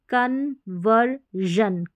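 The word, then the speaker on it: conversion: फिर यहां पर देखिए कन्वर्जन कन्वर्जन वर अर का साउंड आते ही एस आईओ एन रहेगा आगे तो हम उसको जन पढ़ेंगे कन्वर्जन फिर यहां पर है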